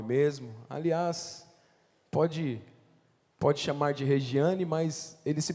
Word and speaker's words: Regiane: Aliás, pode chamar de Regiane, mas ele se pronuncia Regiane, né?